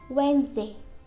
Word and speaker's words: Wednesday: Normally, letter D is silent before letter N or letter G. For example, Wednesday, Wednesday. We don't say Wednesday, it's wrong. We say Wednesday.